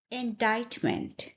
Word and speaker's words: indictment: The correct pronunciation is indictment. So B was the correct answer. Let's break down the sounds. The first sound is in. Then we stress the second syllable by saying died, died.